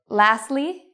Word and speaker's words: lastly: Lastly, you could also say lastly. It's okay either way.